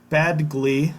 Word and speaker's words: Badgley: likely won't play kicker Michael bag Badgley I believe is how you say that name has a groin injury